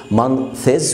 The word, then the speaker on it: month: في الانجليش ما بتقولش مانثز، ودي قلتها قبل كده. اولا النطق مانث، مانث مش مانس، ها؟